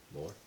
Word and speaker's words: MOAR: More. That's more. Mm-hmm. More coffee. More coffee. But it's not spelled like normal more. M-O-A-R.